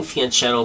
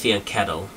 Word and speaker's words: fianchetto: the kingside fianch fianchetto line i've been saying fianchetto my whole life and someone recently corrected me